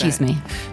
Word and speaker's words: chisme: chisme? So, chi is c h i s m and then me um would be the e again cuz it's an end of a word, right?